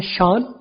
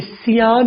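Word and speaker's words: Sean: एक नाम है शान, CEAN, राइट। तो इसे सियान नहीं पढ़ा जाता, इसे शान पढ़ा जाता है।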